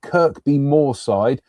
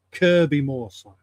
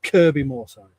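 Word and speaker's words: Kirkbymoorside: There are two K's in it, but you don't pronounce the second one. So, it's Kirby Moride.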